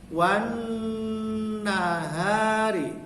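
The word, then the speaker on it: وَالنَّهَارِ: Wan nahari, haknya panjang. Wan nahari. Wan nya itu, nunnya itu dipanjangkan dengung karena di atas nun ada tasdid atau ada syiddah. Jadi wan, jangan langsung wan nahari, tapi n-nya itu, nunnya itu dipanjangkan dengung.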